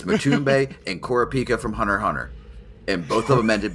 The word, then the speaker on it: Hunter x Hunter: the X's are always the x is silent it's Hunter Hunter okay it's like spyx